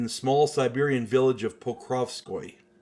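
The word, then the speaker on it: Pokrovskoye: in8 1869 in the small Siberian Village of Poco p o k r oov SK o Yee my Russian pronunciation is atrocious so bear with me uh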